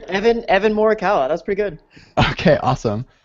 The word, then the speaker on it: Morikawa: And for our esteemed guests, we have Evan Morikawa. Yep. Good morning. Yeah. I didn't ask you if I pronounced your name right, so was that Yeah, all that's right. Evan Morikawa.